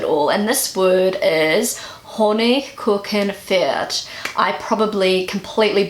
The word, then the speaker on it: Honigkuchenpferd: And this word is Honigkuchenpferd. I probably completely butchered that. So this is how Google pronounces it. Honigkuchenpferd. Honigkuchenpferd.